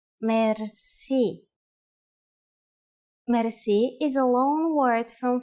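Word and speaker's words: мерси: you will be amazed which word that is Mery mer Meri is a long word from French but it is pronounced with a typical Bulgarian heart are R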